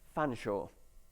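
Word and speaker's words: Featherstonehaugh: This word is pronounced fanshawe.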